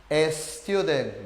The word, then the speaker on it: student: Te apuesto que la mayoría diría es así con una e. Student.